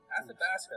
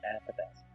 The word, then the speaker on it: Athabasca: Oh yeah, could you spell that? Athabasca, that's a tricky one.